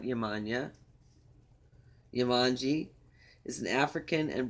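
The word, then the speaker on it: Yemanjá: Yamanji, I guess, is how you pronounce it, not Yamanya.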